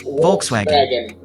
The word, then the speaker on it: Volkswagen: Volkswagen. It's actually pronounced Volkswagen.